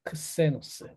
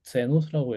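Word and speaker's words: ξένος: 제누스, 제니체, 가이스, 갸르, 제노스, 게세이, 이거는 크세노스라고 읽어야 됩니다. 크세노스.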